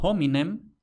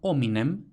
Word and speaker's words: hominem: Entonces, los romanos escribían hominem con H, aunque no pronunciaran hominem, sino hominem, simplemente de la misma forma que nosotros escribimos hombre con H, pero pronunciamos hombre y no hombre.